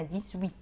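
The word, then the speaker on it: dix-huit: وبعدين عندنا دي سويت. دي سويت. هنا نطقنا الاكس في الاخر مايله للزد. دي سويت. اوكي، عملنا يعني ربط 18. عملنا ربط. ما ينفعش اقول دي سويت، لازم نعمل دي سويت وصله.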